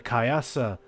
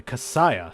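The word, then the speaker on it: kasaya: But the day Jinshu saw the kayasa, the casayiah, sorry, not kayasa, the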